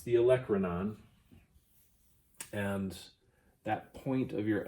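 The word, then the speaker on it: olecranon: hold on okay I had to get the pronunciation right it's the Electra non and that point of your elbow is actually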